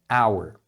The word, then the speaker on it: hour: Então a pronúncia é hour.